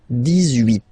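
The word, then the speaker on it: dix-huit: Then 18, so you will make this little link between the two, the liaison.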